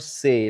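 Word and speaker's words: ثے: It is called say like the English word say as in to say something.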